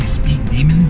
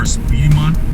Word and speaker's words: Speedemon: So it's spelt kind of like Pokemon or Digimon, right? So it's not really Speed Demon, but it's more Speedemon kind of thing.